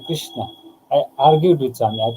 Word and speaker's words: Krishna: Swami told me, it's not Krishna, you're spoiling the pronunciation and thereby you're spoiling the meaning. And he told Krishna. It has to be Krishna.